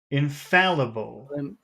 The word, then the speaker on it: infallible: infallible okay infallible infallible that's four syllables uh are they big syllables syllables infallible so in F fall or F fall is Big okay than other big foul is Big what about the other ones in in is that big in no s okay so that's